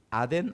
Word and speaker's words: 아덴: 그들로 신라와 디모데를 빨리이 아덴 아테네 여러분 아테네는 아시죠 아덴이 바로 아테네입니다 아테는 헬라어 아테네는 영어식 발음이에요 그리스 아테네 아시죠 아테네